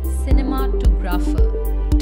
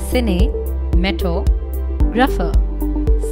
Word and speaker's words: cinematographer: Since it's a long word, people incorrectly break it up and pronounce it as cinematographer. To pronounce it correctly, try saying it in parts like I say. Cinematographer. Cinematographer. Now try speaking it all without spaces.